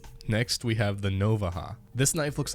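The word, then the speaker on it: Navaja: Now, I'm from Texas, and this is how you pronounce things that have a J in them. Next, we have the Novaha.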